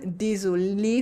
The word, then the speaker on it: désolée: The uh at the end in the feminine is silent, so it sounds the same either way. Désolé for a man, désolée for a woman, same. Désolé, désolé.